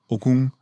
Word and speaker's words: Okung: No. Okum. The G is silent. It comes from your throat.